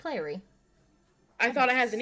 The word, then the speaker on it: Clary: It's Clary. I thought it has an E. No, Clary? from City Bones. I think it's Clarice. Is it? Mm. I'm gonna Google it now. Well, it's No, it's Clary.